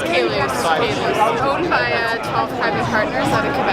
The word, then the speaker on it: Caylus: How do you pronounce the name of your winery? It's Domaine Caylus. Domaine Caylus. What did I call it? A Qualius?